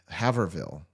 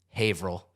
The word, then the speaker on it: Haverhill: Haverville. Averville. Haverville? Haverhill.